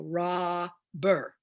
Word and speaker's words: robber: I only do one B. I go ra-ber, which means one of them is silent.